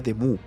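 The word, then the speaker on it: Demoux: se parce nada Pero sabiendo que los nombres escadre se pronuncian en francés demux se pronunciaría deu algo que se parece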